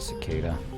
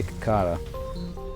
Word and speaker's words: cicada: coming that's just a cicada I used to say kakata a long time ago just look to me like that's the way you pronounce it a lot of things